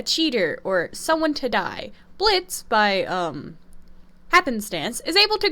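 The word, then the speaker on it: Blitzø: of a boss is blitz o or blitz I forgot the O is silent whatever blitz is a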